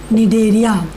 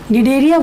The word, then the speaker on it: Cnidaria: C is silent, Cnidaria. Right? Cnidaria, why the name is?